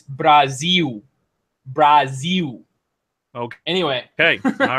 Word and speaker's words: Brazil: Madeira, Panamax, Nippon, and now an upcoming game called Brazil, which should be pronounced, by the way, Jeff, here it's Brazil.